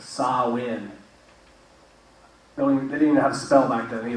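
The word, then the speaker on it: Samhain: Christian Church changed and you see how that was spelled right s-a-m-h-a-i-n but they're saying that you pronounce it saw in so when we didn't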